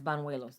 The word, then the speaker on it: Banuelos: about michael steven bonduelos that's vanuelos i don't think that's what they were calling them on the show it's yes banuelos that's how it's pronounced that's a spanish name okay who goes by